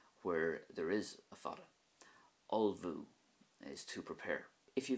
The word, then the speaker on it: ullmhú: The word or verb to prepare is ulvu. So you can see the difference there at the start where there's no Fada, and then at the end where there is a Fada.